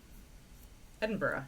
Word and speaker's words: Edinburgh: So, Edinburgh, yeah.